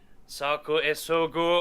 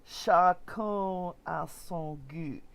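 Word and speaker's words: chacun à son goût: He pronounced it totally wrong. Let's see. What can I do instead of that? I wrote it out phonetically, too. Chacun a son goût. It's like, dude, it's not, it's chacun a son goût. Each to their own taste.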